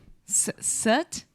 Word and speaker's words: soot: Soot? Soot, suit. Yeah, it's the sound. One you're making round lips, the last one, and the first one you're not.